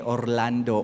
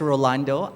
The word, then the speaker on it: Rolando: So my name is Rolando, and I usually emphasize the first syllable of my name because some people call me Orlando or Ronaldo. But it's Rolando.